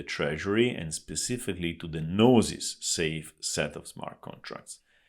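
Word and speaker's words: Gnosis: reputable companies in crypto nosis spelled with GN o s i s which is also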